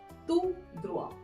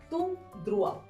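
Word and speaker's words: tout droit: रास्ता है इसको हम फ्रेंच में क्या बोलेंगे तू ध्रुवा तू ध्रुवा अब देखिए ध्यान रखने वाली बात है इन दोनों की सेम स्पेलिंग है बट थोड़ा सा डिफरेंस ये है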